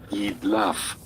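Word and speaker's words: Jidlaph: Okay, they have a pronunciation key over here. Well, ye laugh.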